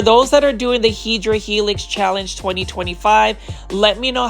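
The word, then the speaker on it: Hedera helix: Take a look at this sea of Hedra Helix or the correct way to say it based on a plan Fi is hideera helix or the English ivy.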